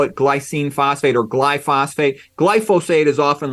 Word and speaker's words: glyphosate: like to call it glycine phosphate or glyphosphate glyphosate is often like the most precise correct way to pronounce it but if you call it glycine